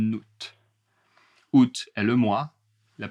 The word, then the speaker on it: août: On part en vacances le 12 août. On part en vacances le 12 août, mais on part en vacances en août. On part en vacances en août. Attention la liaison en août.